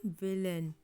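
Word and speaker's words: villain: अब इसके अलावा थोड़े से शब्दों में ए आई का उच्चारण अ होता है, ठीक है। जैसे कि फाउंटेन, ठीक है। जैसे कि विलन, ठीक है। जैसे कि चिफ्टन, ठीक है। इसमें ए आई को आ पढ़ा गया है, ठीक है।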